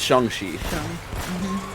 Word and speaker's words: Shang-Chi: it's Shang-Chi.